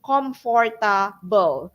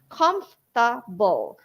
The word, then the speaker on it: comfortable: often mispronounce they say comforable sometimes comfortable okay so they changed the F sound to P sound so it should be comfortable okay just three syllables teachers comfortable okay a comfortable chair